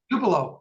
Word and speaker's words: Tupelo: were I'm just using tulip focus and I did not pronounce the name right two below hey Tupelo I knew I had